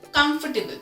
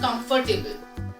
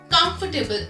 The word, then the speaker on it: comfortable: I said comfortable, not comfortable. जो R है वहां पर वो almost silent है. The word is comfortable and not comfortable.